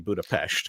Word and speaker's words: Budapest: that's an S, because an S on its own is a sh. So Budapest is actually Budapest because it's just got a sh in it.